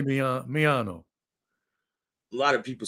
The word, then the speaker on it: Miano: well you're just pronouncing it the way you're pronouncing it it's me I say me myano a lot of people say mayano right some I think they're Japanese though yeah